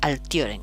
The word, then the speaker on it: altiorem: Siendo esta O una vocal larga, por eso se pronuncia altiorem, con toda la fuerza aquí en esta O.